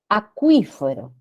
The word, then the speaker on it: acuífero: Acuífero, la sílaba tónica es qui, qui.